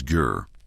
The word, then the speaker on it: ger: Meanwhile, in Mongolia, the word is gir. A softer sound. Just one syllable as comfortable and rounded as the structure itself.